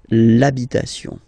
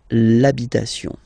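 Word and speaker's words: l'habit: the the masculine part even if you've got this ash then the first sound you hear is a okay so for the same reason you will have to take this a away and then you get this labit labit okay and then I've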